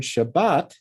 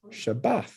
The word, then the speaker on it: Shabbat: But you'll find that the word Shabbat is actually written with the Dagesh, Shabbat.